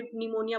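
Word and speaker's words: pneumonia: यहाँ पे निमोनिया बोलेंगे इसको, पी यहाँ पे साइलेंट होता है तो इसको निमोनिया प्रोनाउंस करते हैं, ठीक है।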